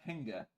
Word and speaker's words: Henga: The dwarf's name is Henga, but it's spelled like hinge.